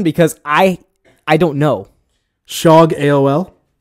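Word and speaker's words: shogaol: I I don't know shog AOL it's sha gay all its sh o gaol that's all i know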